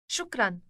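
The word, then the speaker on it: شكرا: thank you for the compliment she would say shukran shokran how do you say thank you in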